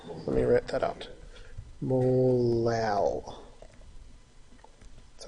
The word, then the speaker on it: molal: Molal. Let me write that out. Molal. That's how you pronounce that. This is a molality. Just like instead of saying molarity, we replace that R with an L.